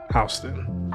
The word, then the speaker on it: Houston: And obviously there's a Houston, Texas, and I know it's spelled the same way, but this is pronounced Houston.